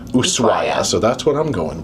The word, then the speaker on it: Ushuaia: So y'all come back tomorrow because I've learned that the correct pronunciation of tomorrow's port is Ushuaia. I know in the past I have said Ushuaia, but we have been told and we've heard the locals say Ushuaia.